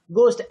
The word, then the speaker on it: ghost: GH का silent letter यहाँ पे है, बट in this word गोस्ट H आपका साइलेंट लेटर है.